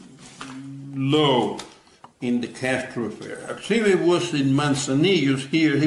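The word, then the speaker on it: Artime: Artemi. Sorry, I've been pronouncing his name wrong the whole time.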